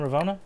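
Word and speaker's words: Ravonna: revo uh how do i say her name ravona oh yeah ravona yeah ravona she just gets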